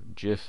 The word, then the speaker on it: GIF: GIF or GIF as some people pronounce it.